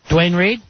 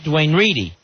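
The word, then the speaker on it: Duane Reade: Al Dukes goes around calling it Dwayne Reedy. I bring Al. And the staff of ours, no one will correct him, and they all snicker behind his back. I heard it when I first got here as Dwayne Reedy.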